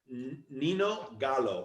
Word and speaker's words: Nino Gallo: Is it Nino, Nino or Nino? Okay, Nino. Nino. All right, Nino Gallo. Nino Gallo is how we're pronouncing that.